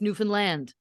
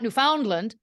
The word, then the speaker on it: Newfoundland: how I say it Newfoundland you hit land that's what the people from there have told me you hit land it's not Newfoundland oh yeah it's Newfound